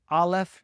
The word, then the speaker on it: aleph: The first letter is aleph, often pronounced aleph nowadays, but it actually originally made a guttural sound that we don't even use in English at all.